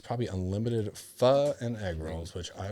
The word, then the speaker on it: pho: It's just tough because it looks like it's pronounced faux, but it's pho. So it's hard to rhyme with pho.